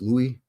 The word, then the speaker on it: Louis: to be named after Louis Louie Louisville Louie LS the French version of Ls is Louie but you can also pronounce Louis as Louie and Louie as Louis